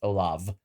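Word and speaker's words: Olav: I'm just going to leave it at presiding Bishop Olaf because I not even Olaf, it's Olaf with a V because I will butcher the middle and the last name.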